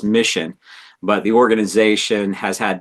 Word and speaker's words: MiCHN: Originally, the organization had a different name, but somewhere along the line, we rebranded it to MiCHN is our acronym, which we pronounce as Mission.